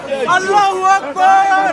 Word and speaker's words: Allahu Akbar: Allah Akbar. You can't even say it properly. Shaitan is Akbar. These people are jokes. Allahu Akbar.